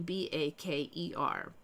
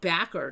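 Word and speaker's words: Bakker: A lot of us remember it being B A K E R. Baker. It looks like Backer now. Tammy Fay Backer. But it's it's still pronounced Baker as far as I know.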